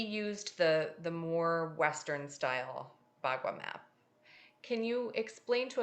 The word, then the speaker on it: Bagua: So the Bagua, you did say it correctly, Okay.